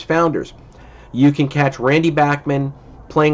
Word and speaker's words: Bachman: And yes, it is pronounced Bachman.